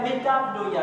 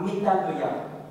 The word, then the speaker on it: metanoia: L'origine de ce mot veut dire metanoia. Ça s'écrit M-E-T-A-V-N-O-I-A.